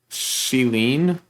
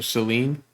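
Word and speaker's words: Céline: Celine? I think that's how you pronounce it, right? The E is, with the accent, is a hard E, so Celine.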